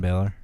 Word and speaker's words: Balor: All Do right, you do you have anything to add about fat or bad guy Finn Balor?